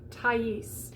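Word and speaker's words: Thaïs: au combination okay so if you're looking at two dots over the top of something in french it's telling you that that letter whatever the two dots are over the top of is going to be pronounced separately so in the name like tais if you were looking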